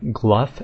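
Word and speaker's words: Glough: The Gnome quests and they pronounce them gluff and gluff I'm not sure how you get gluff out of glow but okay um next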